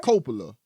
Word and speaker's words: Coppola: Coppola.